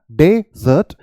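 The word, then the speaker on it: desert: आपको डी बोलना है वहां पर आपने डे बोला डेजर्ट और यहां पर आपको क्या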